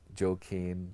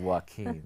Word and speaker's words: Joaquin: Like, you know, like the presenter who was saying Joaquin today instead of Joaquin.